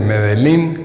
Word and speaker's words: Medellín: De Medellín Coffee, como no se pronuncia la doble L, dice Medellín Coffee.